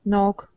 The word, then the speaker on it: knock: K is not pronounced when followed by N at the beginning of a word. Knife, knee, know, knock, knowledge.